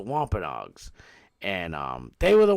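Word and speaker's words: Wampanoag: It's spelled Wampa Noag, but it's the Wampenogs.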